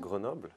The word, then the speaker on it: Grenoble: Is that okay for pronunciation? Yeah, Grenoble. Yes. It's okay.